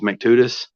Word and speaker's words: McTutus: So his name is McTutus. So I wrote down Mac to Tuss.